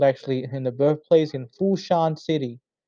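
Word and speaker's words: Foshan: Okay, a museum dedicated to him was built actually in the birthplace in Fushan City. In Cantonese, you call it Fusan.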